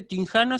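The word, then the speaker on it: τυγχάνω: Después tenemos otro verbo que es tinjano, ahí fíjense que nuevamente la gama la pronuncié como una N.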